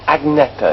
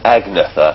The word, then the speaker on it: Agnetha: looks good is it how do you pronounce agneta is that right my name is me saying agnetha and things like that you're probably squirming every time I say acne but I can't I